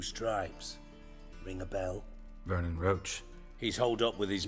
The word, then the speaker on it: Roche: Talk to Vernon Roach. I would have pronounced that Roche myself, but guess I would be wrong.